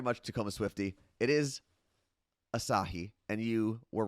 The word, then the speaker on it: Asahi: But what I found out afterwards is Asahi, if you're familiar with that, is the Japanese Sir.